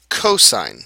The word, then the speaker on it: cosine: Then we have the trig ratio pronounced cosine, co and then sine.